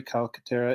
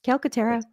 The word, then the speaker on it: Calcaterra: Tonight we have Calcaterra. Is that how you pronounce it? Mhm. Calcaterra.